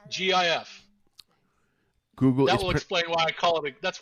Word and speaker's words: GIF: was inflamed was because the guys that invented the the gif said that it's pronounced jif but it this video explains why it should not be pronounced gf it should be pronounced gif even if the guys who made it say so can you just tell